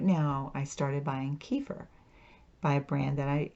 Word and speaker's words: kefir: I've gotten used to kefir oh wait a minute I'm saying it wrong it's kefir okay so I I'm learning